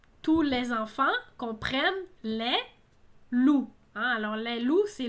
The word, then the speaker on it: loup: Chez moi, les loups sont à nos portes. Alors, attention, ici, c'est l'animal, hein, un animal, le loup, hein, d'un canidé, je crois. Loup, on ne prononce pas le P, hein, comme coup.